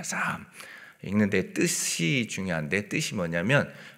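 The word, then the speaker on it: Psalm: 우리가 시편의 말씀, 오늘 본문 말씀을 참고하기 전에 시편의 어떤 개론적인 의미를 잠깐 나눈다면, 이 시편이 영어 성경으로는 뭐라고 이렇게 읽는 줄 아십니까? 어원적 의미를 보면 사함이라고 읽습니다. 사함.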